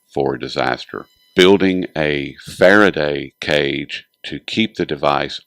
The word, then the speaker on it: Faraday: And that's quite a bit, but I wanted to start with the Faraday cage. Am I pronouncing it correctly, first of all?